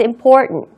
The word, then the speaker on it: important: important도 상관없는데 그래도 이렇게 RT가 나온 다음에 다음에 자 다음 모음이 나오는 셀에는 T의 발음이 조금 약화됩니다. it is important.